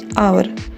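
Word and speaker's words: hour: इसको उच्चारण करेंगे आवर। और उच्चारण करते समय आ की आवाज आ रही है जो कि एक वोवेल है।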